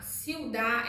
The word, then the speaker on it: ciudad: Ciudad, ciudad é cidade. Ciudad não tem no final no espanhol. O D é mudo, ciudad.